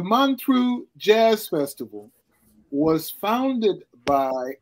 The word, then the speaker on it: Montreux: up next all right the Mantra sometimes mispronounced Montreux but the man through jazz festival was founded